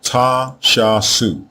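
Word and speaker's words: Ta-Shasu: The pronunciation of these four glyphs is therefore t shasu.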